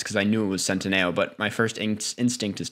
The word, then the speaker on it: Centineo: Noah Centineo. So every other time you said it was wrong. I've messed it. I used to call it Noah Centennial or something.